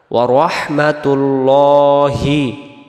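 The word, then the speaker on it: ورحمة الله: তারপরে ওয়া রাহমাতুল্লাহি ওয়া রাহমাতুল্লাহি, আল্লাহ শব্দের ডান দিকে পেশ থাকার কারণে লাম অক্ষরটাকে ল পড়ে পড়তে হবে। ওয়া রহমা, ওয়া রহমা, ওয়া রাহমাতুল্লাহ যেন না হয়, হবে ওয়া রহমাতুল্লাহি ওয়া বারাকাতুহ।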